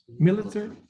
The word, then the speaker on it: Militzer: patrick militzer mr military is your last name pronounced military you said it right military yes sir okay uh